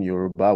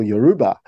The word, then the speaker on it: Yoruba: Burna Boy, and I could see people literally speaking Yoruba with him.